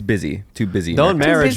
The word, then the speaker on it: Busy: I up until very recently was pronouncing her name Bussy Phillips. Bussy Phillips. Bussy Phillips. You're probably not the first. She probably does get that. Yeah, But her name is just Busy. Just Busy. B-U-S-Y.